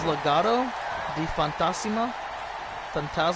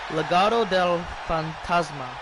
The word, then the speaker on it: Legado del Fantasma: Yeah, see, Legado del Fantasma. There we go. That's how you say it.